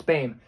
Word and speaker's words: Boehm: But the thing that's going to play in Kamaka's favor, Boehm, I don't know why it's pronounced Boehm. That doesn't look like Boehm to me, but it's Boehm. That's what every announcer said anyway.